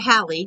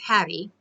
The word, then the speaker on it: Hattie: I almost said Hallie, so I'm glad I looked, is Hattie.